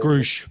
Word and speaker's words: Grusch: Grusch, yeah.